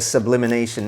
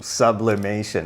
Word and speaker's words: sublimation: using something like a sublimination that's sublimination sublimation i keep saying i say it wrong i will subliminal eyes